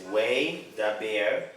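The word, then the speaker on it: וַיְדַבֵּר: Hebrew for you to make it easier to pronunciate, right? So the first word there is way daber.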